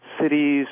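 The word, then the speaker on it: siddhis: cultivating stillness in action cities and miracles and by cities i don't mean big gatherings of people it's it's spelled s-i-d-d-h-i-s and in sanskrit it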